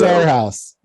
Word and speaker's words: Arhaus: our house our house our haas chris does it better than me i can never say it correctly it's our house our house our house the ticker